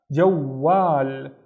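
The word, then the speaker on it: جوال: So the first syllable would be ja, but I also need to pronounce the u, right? So it would be jow, jow. The second syllable would be starting with wa, wal, and the wa is twice as long because of the alif. Wal, jawwal, and jawwal is a phone.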